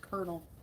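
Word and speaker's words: colonel: next video just look at the word kernel kernel it's spelled colonal but it's pronounced kernel Cornwall Cornwall bees yeah I think there I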